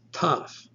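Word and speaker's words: ταυ: In fact, you might place your tongue against your teeth to kind of seal off the air. So the breath from your lungs is coming out, but it's stopping. It's not going out until you pronounce the letter. You simply let the breath out and it sounds like t, t. This is taf.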